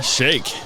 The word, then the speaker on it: Shaikh: So I'm here with Hassan Shaikh. Yes, sir. I pronounced it Shaikh, right?